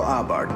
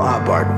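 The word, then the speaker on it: Abarth: little bit about Karl Abart. By the way, the H is silent according to Fiat.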